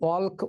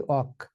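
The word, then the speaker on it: walk: যেমন ধর ইংরেজিতে তোমরা যদি লেখো ডাব্লিউ এ এল কে তাহলে আমরা কিন্তু অলক উচ্চারণ করি না। উচ্চারণ করি অক। এখানে এল এর কোন উচ্চারণ হয় না।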